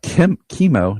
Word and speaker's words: Chemo: They have Chemo. Do you guys say Chemo or Chemo? How do you pronounce his name? I usually say chemo, like chemical.